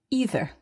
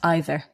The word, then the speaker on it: either: So you say either France or Belgium, Mark, but I would naturally say either, not either. But both are acceptable and you can choose which you prefer.